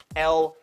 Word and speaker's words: Elle: Think of other words that end in L-E, okay? This does not say bicycle-y.